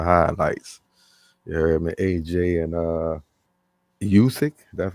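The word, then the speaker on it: Usyk: you saw the highlights yeah aj and uh yousick that's how you say his name yeah uh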